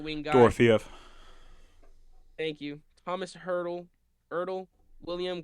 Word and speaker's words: Dorofeev: But Pavel, I don't know how to pronounce his last name. Pavel Dorfave. He's a right wing guy. Dorofeev.